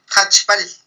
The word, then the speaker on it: Jachb'al: Jachb'al.